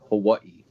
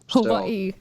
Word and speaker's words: Hawaii: of people say like hawaii a lot of people also pronounce the w like a v yeah but a lot